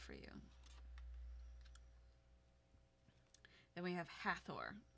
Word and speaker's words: Hathor: you then we have Hathor almost like my name Heather but it's not at a Thor some people would pronounce it like that but whatever what it